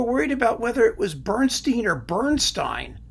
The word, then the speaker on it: Bernstein: about whether it was Bernstein or Bernstein, right? Finally, I settled on Bernstein. Why? Because his name Bernstein is German for amber. And they pronounce it Bernstein.